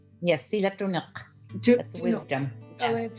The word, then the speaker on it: Silatuniq: And that is, help me pronounce it, Sila Tunik. Yes, Silatunuk.